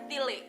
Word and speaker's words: Tilik: bacanya tile ya, Kak. Tile pakai E.